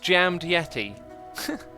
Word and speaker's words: Jaime de Asis: two are together here Jaime de asis I love how X pronounces my name it's pronounced jammed Yeti sorry sorry for butchering